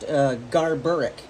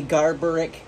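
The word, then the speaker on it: Garbaruk: by the name of, I believe it's pronounced Garburik.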